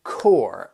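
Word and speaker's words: corps: Well, the reason for that, it's it's like you have that that P and S. You don't even hear it.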